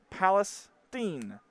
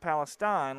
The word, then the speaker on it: Palestine: to let you know it's actually pronounced Palestine, not Palestine like I pronounced it, Palestine Wheatley.